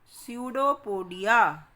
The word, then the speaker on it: pseudopodia: They are called pseudopodia. Pseudo means false, झूठे. Podia means feet, पैर. P is silent in it. Pseudopodia.